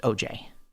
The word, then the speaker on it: Aujay: jonathan oj and it's spelled a-u-j-a-y now i would say oj because i'm fancy but it's actually just pronounced oj like the guy that allegedly